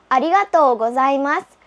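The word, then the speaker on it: ありがとうございます: Katulad po sa ohayo at sa sayonara, meron pong u, pero ang tamang pronunciation ay arigatou gozaimasu. Pinahaba lang po yung to.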